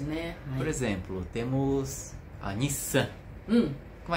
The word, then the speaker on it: Nissan: vai aasal ses entende não é Nissan mas Nissan Nissan Nissan o som de um ocupa o mesmo espaço de uma sílaba então s é uma sílaba perfeito é uma característica